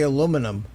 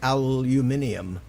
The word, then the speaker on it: aluminum: that's right we say we say aluminum they say aluminium well and you know what's funny is both it's correct yeah and they're spelled